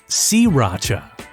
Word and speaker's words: Sriracha: Well, first off, we've been pronouncing it all wrong. Here in the States, most of us say Sriracha or Sriracha, but it's actually pronounced Sriracha.